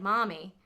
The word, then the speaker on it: Marmee: Yeah, it's Mommy with a New England accent. So you can, if you just say it like Mommy, Mommy, right? Like, that's how they would have said it.